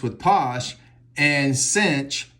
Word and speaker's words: sinh: Or you can say cosh rhymes with posh, and cinch rhymes with pinch.